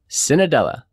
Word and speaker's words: Cenedella: jeffrey broger and i am here with cinedella did i pronounce that right you got it perfect good